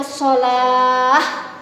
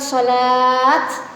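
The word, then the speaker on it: صلاة: Jadi kalau berhenti bacanya sholah, bukan sholat, bukan. Tapi kalau taknya biasa yang begini seperti mangkuk, bacanya sholat, gitu ya.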